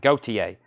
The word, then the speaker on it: Gautier: Craig says it's Gautier. I like this. Lots of people are commenting. Gautier. Thank you.